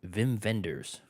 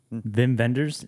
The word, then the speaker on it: Wim Wenders: it's a guy named Vim venders Vim vendors it's spelled Wim Wenders yeah yeah but he's